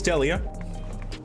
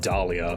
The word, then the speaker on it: Delia: No, it's Delia. I mistakenly pronounced it Dahlia, but it's Delia Ketchum.